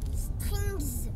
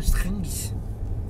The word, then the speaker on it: strings: Strings. Strings. Faut bien prononcer le S à la fin, strings.